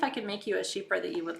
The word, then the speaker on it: Chypre: It's Chypre. A lot of people pronounce it Kuiper, but it's a French word, Chypre. So it's CHYPRE, sheep.